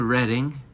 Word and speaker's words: Reading: So anyway, we took the bus to Reading, or Reading, but it's definitely Reading. It's spelled like What's the Reading.